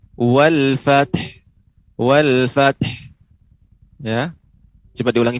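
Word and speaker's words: والفتح: Ya, pengucapan wal fath dia harus diberikan ha. Wal fath.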